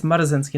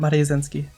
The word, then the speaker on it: Marazinski: Marazinski, I keep saying it wrong. It's Marazinski, not Marazinski. Marazinski.